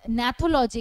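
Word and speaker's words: gnathology: Next হচ্ছে ন্যাথোলজি, এখানে জিটা silent, ঠিক আছে?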